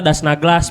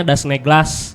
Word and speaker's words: Das Naglas: Jadi dibacanya kayak huruf E sebenarnya. Kalau penulisan bener A gitu. Kalau dibaca mungkin seringnya memang kita dipanggilnya Das Naglas pasti kalau baru pertama kali gitu. Tapi sebetulnya dibacanya Das Neglas.